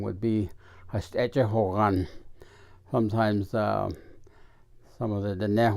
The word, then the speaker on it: Yeibicheii: head dancer is known as the Yeibicheii, or Yeibicheii is the correct way to pronounce it. It is the speaker of peace. And then the other dancers, there were originally 12, and they were called Yeibicheii is what they call them, but the correct